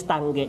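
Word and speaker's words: Tange: stanch na mga Expander tanan tang tang t tangi mahal to tangi Mahal yan napag-usapan yan kung ano talaga pronunciation yan eh yung tamang pronunciation is tangge hindi t sorry sorry you're not forgiven You're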